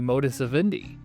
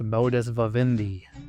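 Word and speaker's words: modus vivendi: Hence refacilitating the modus of Indi or well actually it's pronounced modus vavindi.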